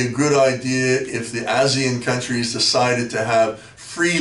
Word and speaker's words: ASEAN: We have the ASEAN countries, you pronounce it ASEAN, not Asian, ASEAN countries, which are countries